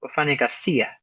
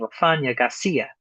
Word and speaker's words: Wafanya ghasia: Uh, for now, notice I'm saying Wafanya ghasia. Even though I'm accenting the fa at the beginning, Wafanya ghasia. The i at the end, the second to last syllable, gets a stronger accent than the fa.